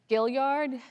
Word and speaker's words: Gilliard: this name wrong, so whenever I'm in pressure, Gilliard, help me, is that right? Did I do it right? Gilliard, thank you. Bartholomew Gilliard received the first grant for 500 acres in 1710. And Gilliard, who acquired additional land in the area known